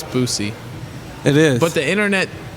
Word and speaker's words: Boosie: It's Boosie. It is. But the internet, the YouTube, how do you pronounce?